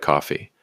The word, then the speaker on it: Kofi: We've set up a Kofi page, that's k o f i, pronounced just like coffee, and the link is in the description and on our bio.